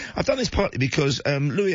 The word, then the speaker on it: Louis: Meanwhile, I've gone for, well, I've done this partly because Louis Armstrong, or Lewis, I think the Americans pronounce it, would have been 120 years old this week had he been spared.